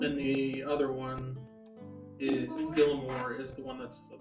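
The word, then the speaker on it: Gillamoor: which place oh Gilmore the hardest one to pronounce and say g i l l a m o o r Gilmore Gilmore um so root socks is how far away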